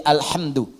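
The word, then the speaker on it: الحمد: Jadi al-qira'us sab'a 'ala dhammid dal. Bacaan di qira'ah sab'ah semua para pembacanya itu mendhammahkan huruf dal di alhamdu.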